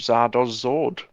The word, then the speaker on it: Zardoz Zord: at the harbour, run by a guy named Zardoz Zord. He's selling them to all the hoity-toities. Could you pronounce his name with letters?